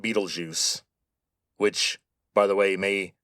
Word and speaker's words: Betelgeuse: By the way, that is how you say that name, Betelgeuse. Now, the spelling is German, but the name comes from Arabic.